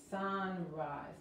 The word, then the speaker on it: sunrise: inglés, el amanecer, sunrise, y la E es muda, la S se pronuncia como la Z, al amanecer es at